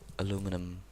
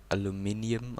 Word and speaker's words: aluminium: Aluminum, it's the kind that isn't really used much, and it's only used for aluminum, which is the wrong pronunciation, by the way. So aluminum blocks, aluminium I should say, aluminium blocks.